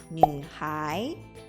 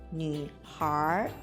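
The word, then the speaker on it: 女孩: Kalau anak perempuan disebut Nuhai. Tapi dengan pelafalan aksen Beijing diucapkan Nuhar.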